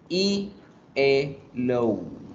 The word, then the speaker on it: yellow: no se dice yellow sino con una y y el low y el produciendo hay a todos en casa vayan practicando de paso la pronunciación del color yellow es yellow y el